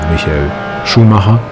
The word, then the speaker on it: Michael Schumacher: Mostly developed in collaboration with Michael Schumacher, or in German Michael Schumacher, if you would say it correctly.